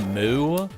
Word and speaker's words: MW: It's pronounced Moo.